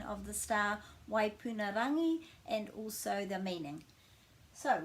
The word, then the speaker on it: Waipunarangi: My name's and today I'm going to be talking about the pronunciation of the star Waipunarangi and also the meaning.